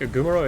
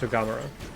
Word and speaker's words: Ugamaro: I know that I keep saying it wrong, so I think Ugumaro is wrong. It's Ugamaro.